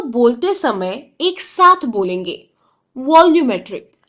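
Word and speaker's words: volumetric: बोलेंगे वॉल्यूमेट्री वॉल्यूमेट्री वॉल्यूमेट्री यहां एल यू का उच्चारण हमें लू किया ल क्यों नहीं किया या लू क्यों नहीं किया यहां यू की जो आवाज है वह उसकी पहली आवाज नहीं है एक्चुअली बी ओ एल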